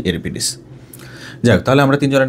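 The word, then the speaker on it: Euripides: লেখার মত করে করি ইউরিপিদেস এরকম মূলত সঠিক উচ্চারণ হচ্ছে ইউরোপিডিস যাই হোক তাহলে আমরা তিনজনের নাম জানলাম সোফোক্লেস ইউরোপিডিস আখিলিস লিভ ব্যাটলফিল্ড আখিলিস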